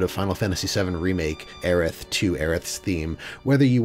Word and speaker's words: Aerith: we we call it erit with the t because in italy we pronunciate the t okay for example so